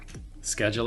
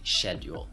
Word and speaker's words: schedule: things word um schedule schedule it is American English but all the British English speakers and a lot of my students say schedule yeah yeah the British influence is super super strong here it's also there's